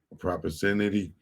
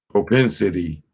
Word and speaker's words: propensity: Let me make sure I'm propercenity. I need to make sure I'm pronouncing that right. Propensity.